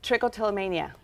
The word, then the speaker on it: trichotillomania: you tell me how to say it again trichotillomania okay total mania I know it's a really